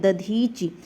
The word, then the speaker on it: दधीच: और दधीच में ध्यान रखिएगा दा का प्रयोग किया जाता है, दधीच, तो वही शब्द क्या है, शुद्ध है।